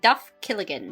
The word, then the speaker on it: Duff Killigan: Okay, I mis I mispronounced his name. It is apparently Duff Killigan. Duff Kigan.